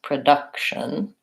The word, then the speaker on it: production: a third syllable stress and production as second syllable stress production so those are our